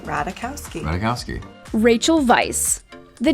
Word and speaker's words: Ratajkowski: us the correct pronunciation it's ratakowski with the j being silent and the k sounding like a c don't mind the phonetics